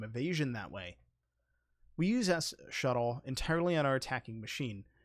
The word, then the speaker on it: sshuttle: tool of this section s shuttle i've seen this also called ssh shuttle or something similar like that a lot of people just call it shuttle just because it's easier to pronounce this tool is quite